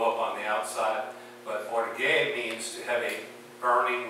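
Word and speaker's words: orgē: O-R-G-E is how we spell it in English, but it's pronounced orge in the Greek.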